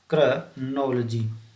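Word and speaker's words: chronology: इसका उच्चारण देख लेना एक बार, क्योंकि इसे हम क्रोनोलॉजी पढ़ते हैं जो बिल्कुल गलत है। इसका सही उच्चारण होगा क्रोनोलॉजी। इसका सही प्रोनाउंसिएशन क्रोनोलॉजी होगा यानी कि कालक्रम विज्ञान।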